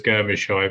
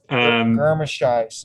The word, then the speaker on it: Germishuis: I thought it was Germishoy, but I have no idea. Oh, okay, the Germ makes sense. The Germ. Germishuis.